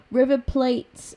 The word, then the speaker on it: River Plate: River Plate, I think it's pronounced Plate, but they offered us, they offered Jenkinson the chance to go there on loan, and I did accept that.